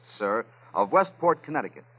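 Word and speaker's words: Cyr: I believe it's pronounced sir of Westport, Connecticut.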